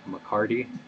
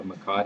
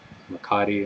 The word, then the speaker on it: mecate: And this is your mecate. It's a twisted horsehair rope. A lot of people up here, they call this a McCarty instead of a mecate.